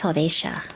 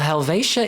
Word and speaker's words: Helvetia: How do you say Hvetia? Well, my Swiss friends say it's Helvatia. Well, Helvatia it shall be.